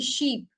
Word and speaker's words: sheep: taken or understood differently so if I say ship okay and Sh double e p sheep okay can you see the difference between both these words there is spelling difference also and there is pronunciation difference also yeah so ship ship means